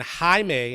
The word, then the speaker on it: Jaime: superhero in the DC Universe so my man Jaime and that's how you pronounce his name Jaime Reyes he's a Hispanic teenager from Texas who